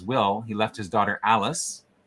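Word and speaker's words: Allis: he left his daughter Alice spelled a-l-l-i-s um which is how you pronounce it how you'd spell it if you were just trying to do it phonetically right um left her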